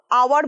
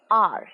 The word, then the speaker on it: hour: hour নয়, hour ভুল উচ্চারণ, hour.